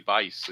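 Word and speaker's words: Buice: Dwayne Bice. The U is silent, I was told. So Dwayne Miami Bice is loosening in the bullpen for California.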